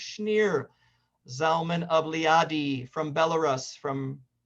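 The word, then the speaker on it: Shneur Zalman: read rabbi schneer zom and i keep saying schnoor but it's actually pronounced schneer zalman of lyadi from belarus from formerly russia you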